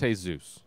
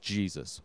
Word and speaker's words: Jesus: his name is jesus it's not pronounced hey zeus it's just jesus which is clearly indicative